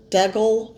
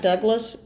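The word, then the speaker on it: Dougal: Radley Valentine and uh dougle Frasier not Douglas it's actually d o u g l l Dole dougle Frasier sorry if I'm pronouncing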